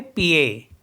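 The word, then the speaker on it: pied: हैं हम ए जैसे पी आई ई डी तो ईडी हो गया लास्ट में तो इसको ए ही पढ़ेंगे हम तो इसको पढ़ेंगे पीए पी मीस होता है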